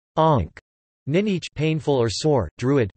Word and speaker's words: amharc: In addition to a vocabulary typical of other area of Connacht, one also finds Ulster words like amharc meaning to look, and pronounced onk, ninich painful or sore, druid close, motai here, doili difficult, new, and tigla to be able to, i.e.